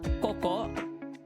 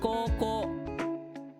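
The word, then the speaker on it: 高校: So it's co It's not coco. It's not coco. It's not co. It's coco. Both of them have to be extended.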